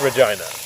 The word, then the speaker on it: Regina: Regina is definitely how it's pronounced. I looked it up, confirmed and reconfirmed. It's Regina.